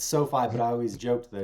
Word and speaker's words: SoFi: And you used to work with, is it pronounced SoFi? It's SoFi, but I always joked that if you said finance, it should be SoFa, but that's not that joke.